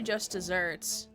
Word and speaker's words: just deserts: Is the metaphor just Oh, it's spelled as desert, but it's pronounced as just desserts.